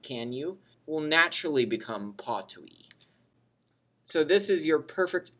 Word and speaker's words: potui: However, the difference with the perfect tense is that the F disappears, or what's called elides away. It elides out. And you're left with just this, potui.